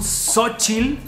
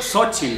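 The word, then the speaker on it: Xóchitl: Epa, ok, estoy a punto de hablar con Xochitl.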